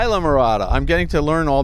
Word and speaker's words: Islamorada: holmes who's the area general manager for the ila murata resort collection or isla how do we pronounce that again isla murata isla murata i'm getting to learn all these these these